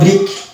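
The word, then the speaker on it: brick: Next word দেখতে পাচ্ছি আমরা ব্রিক। এই শব্দটিতে দেখতে পাচ্ছি সি পাশাপাশি এবং সি কে আছে এবং কে এর উচ্চারণ আসছে, সি সাইলেন্ট হয়ে যাচ্ছে।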